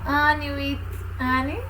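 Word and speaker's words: Anne with an E: A pronúncia é essa mesmo, Anne with Anne.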